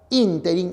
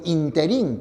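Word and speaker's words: ínterin: encontraron en la cafetería a decir la palabra interin es esdrújula por lo tanto la expresión interín que algunos emplean es impropia te das cuenta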